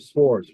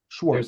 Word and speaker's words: Schwartz: Swartz, right? Schwartz. There's no T. You I do pronounce it Swartz? I do pronounce it Schwartz.